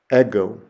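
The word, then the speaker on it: ἐγώ: I have there is the word for I ego ego and I have a picture of myself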